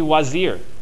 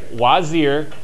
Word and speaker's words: Wazir: his position actually exists it's called the Wazir mm-hmm right wozy er which in the movie they call Vizier is the same title just pronounced differently that position existed and